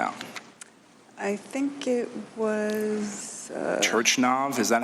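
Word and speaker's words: Turchynov: Turchinov, is that how you say it? Turchinov, thank you for helping me.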